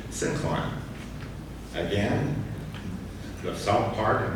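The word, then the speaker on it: syncline: sink line and the let me get that pronounced right sincline.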